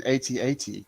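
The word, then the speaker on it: AT-AT: have to ask you you called it an atat do you prefer that pronunciation over at at or i do it i it doesn't matter either way works for me i just felt 18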